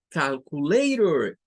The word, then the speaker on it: calculator: No va a sonar a tor, sino que va a sonar a pur, más suave. Calculator, calculator.